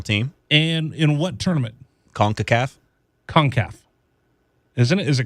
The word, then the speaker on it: CONCACAF: how you pronounce con i think it's concaf concacaf that sounds like conch shell what are you doing it is c-o-n-c-a-c-a-f but it's soccer they don't pronounce anything the right way they call it